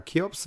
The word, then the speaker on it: Cheops: Ich habe jetzt eine Doku gesehen über die, das müsste die Cheops, oder Cheops wird es ausgesprochen, glaube ich, Pyramide sein.